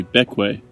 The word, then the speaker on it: Bequia: fully discovering the ways to pronounce pequea is actually back way we also learned back